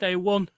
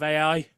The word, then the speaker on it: AI: Yeah, who thinks that artificial intelligence is pronounced A1. Oh my God. Really? Yeah, last week she was at a conference or something, and all the way through it, she was saying A1 instead of AI.